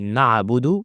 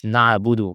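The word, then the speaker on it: نعبد: So to not say na'budu, we need to extend this ayn. Na'bu. Now we never apply qalqala. But if you didn't extend it, it might be qalqala out of your control. So you may say it like this, na'budu. This is qalqala and this is incorrect. And we need as much as possible to pronounce ayn from its proper makhraj. Because some people are pronouncing ayn like hamza or ha.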